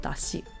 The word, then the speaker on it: dashi: the Japanese pronunciation because Japanese is just Dashi without the da extra da at the end but we see on